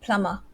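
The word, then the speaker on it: plumber: on okay oh frida what about plummer it's silent b yes it's a silent silent b plummer plummer um flower f-l-o-u-r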